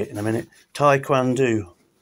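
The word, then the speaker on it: Taekwondo: Tai Kwan Do, that's how you say it.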